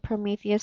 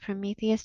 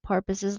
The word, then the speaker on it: Prometheus: to eat prometheus's liver in ben's nervousness he mispronounced prometheus so that he actually said so what he actually said was that zeus sent vultures down to eat porpoise's liver mary lou invited both